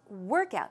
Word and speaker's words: workout: So the stress goes where? On the first syllable.